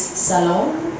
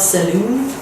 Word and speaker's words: salon: I think it is salon and not saloon. Saloon is the cowboy thing, right? So up until 24 hours ago I was saying saloon. But it's the salon.